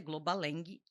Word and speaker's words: Globalang: A pronúncia é Globaleng I L, né?